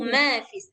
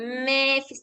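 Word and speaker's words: ما في: Lahu mafis. Jangan lahuis. Nah, nanti dia jadi kayak yang kayak cerita Mbak Teti tadi jadinya nanti lahu mafis. Mafis jangan mefis jangan terlalu miring dia bayen.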